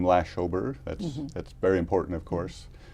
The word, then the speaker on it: Lashober: So the first is lash. And that's really what my friends called me growing up. I don't think they ever got to the second or third syllable. They were maybe just lazy. Sometimes I tell people, if it helps, remember it rhymes with slash, like in slash the deficit. Second syllable is O, okay? Very simple, as in, oh my